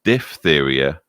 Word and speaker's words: diphtheria: the greek for leather the disease incidentally is correctly pronounced DIF area I'm sorry bit late that bill diphtheria not not diphtheria that made breathing increasingly